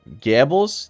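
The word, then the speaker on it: Goebbels: So, I'm with you on Gables. That's how you pronounce it.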